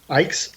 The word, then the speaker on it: Icke: Ike's? Yeah, Okay, Ike like bike.